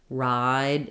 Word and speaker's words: ride: don't sound the same because when we say write it write write it we um we make that vowel shorter so the difference between write and ride if I'm just saying them by themselves is that right is going to be very short ride is going to be longer and so um even